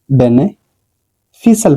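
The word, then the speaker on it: beneficial: ठीक है इसको बेनिफिशियल नहीं पढ़ा जाएगा बेने फिशल पढ़ा जाएगा इसको ठीक है इसमें भी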